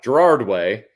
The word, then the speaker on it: Gerard Way: you say his name gerald wayne gerald gerard gerard way um like some people just have like too